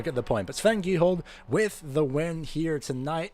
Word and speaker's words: Giehold: I'm adding an L when I shouldn't be. I know it's Giehold. That just blends together, but we think we all get the point. But Sven Giehold with the win here tonight.